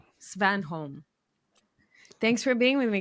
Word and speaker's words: Svanholm: Svanholm. Svanholm.